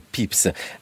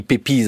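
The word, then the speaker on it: Pepys: Ça s'écrit pépise he si on voulait prononcer à la française.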